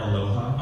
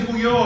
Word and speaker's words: Ulloa: You can't really hide Ulloa too well because no one can pronounce it. So hiding it wasn't so good. My high school principal at graduation called me Eric Aloha on my graduation.